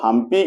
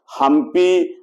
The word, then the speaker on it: हम्पी: हमप कहा जाता है स्थानीय लोग प शब्द का उच्चारण हा के रूप में करते हैं और पंप पति को हमप पति या हमप पथ कहा गया हपी हम पति या हमप